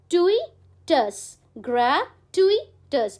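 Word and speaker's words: gratuitous: grey टिईटस grey आप ऐसे करो ग्र ऐसे टू तोड़ लो टईटस grey tweets I hope that's clear आप दो-तीन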